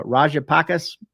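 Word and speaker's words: Rajapaksa: reserve had stood at 7.5 billion when uh rajapakis that's how you say his name returned to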